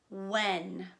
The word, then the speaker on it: when: the word when and when is a tricky word because it has a silent letter in it so it sounds like it should be whoa and but that isn't how we spell it it has a sneaky silent H so it is spelled